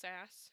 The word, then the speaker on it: SaaS: I know it's like a software thing, but SaaS, like SaaS. I don't. How do you? Software as a solution, SaaS. But is that how you say it then? Just SaaS if you're reading Yeah, it.